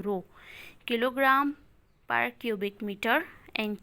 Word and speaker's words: rho: Density, it is a Roman letter which is pronounced as rho, R-O, rho.